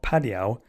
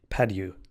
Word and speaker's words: Padieu: Now, I may have pronounced that guy's name wrong. It's probably Padieu, because if he's French, his name is actually Pierre-Marie Padieu. If he was from China, I might have pronounced it Padiao, but since he's from France, we'll go with Padieu.